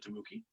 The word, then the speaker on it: Tamuki: Actually, in the same sort of gaming group that Tamuki, now that I know how to pronounce his name properly, not Tamiki but Tamuki, that he was part of.